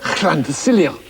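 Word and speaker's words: Llantysilio: For instance, that says llan. Quite right. Llan. And that says... Ta. Yeah, and that says... Cilio. So all in one, Fred? Llan to Cilio.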